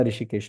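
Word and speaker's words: हृषीकेश: And hence he इज ऋषिकेश, not Haridwar ऋषिकेश वाला ऋषिकेश, वो वाला ऋषिकेश नहीं है वो। ही इज ऋषिकेश, नॉट ऋषिकेश, एच एक साइलेंट एच है आगे।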